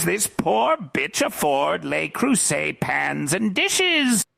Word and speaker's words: Le Creuset: How does this poor bitch afford Le Creuset pans and dishes?